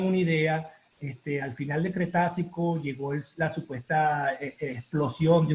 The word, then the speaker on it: Cretácico: En términos muy sencillos para llevar una explicación geológica, el Cretácico, en realidad la pronunciación es Cretácico. Cuando Ok, alguien dice Cretáceo, ya sabemos que no es geólogo.